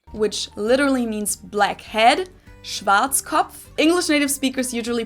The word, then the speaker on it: Schwarzkopf: In German, we pronounce it Schwarzkopf. Never even heard of it, but if I were to read this, if I were to look at this, I would think it was Schwarzkopf.